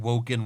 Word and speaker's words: Woken: And Woken rhymes with broken.